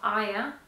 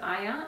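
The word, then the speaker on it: Aja: It's called, I think it's pronounced Aya. I would pronounce it Aya, A-J-A.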